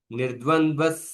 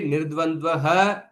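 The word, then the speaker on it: निर्द्वन्द्वः: But when I'm pronouncing continuously without break, because the visarga is followed by sakara, then the visarga is pronounced like sakara.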